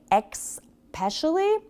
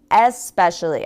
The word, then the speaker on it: especially: Another one similar to this is people will say especially. It's especially. I'm not sure where they're getting especially. Maybe it just, you know, when you say words quickly and you hear them really fast, sometimes it's just hard to catch.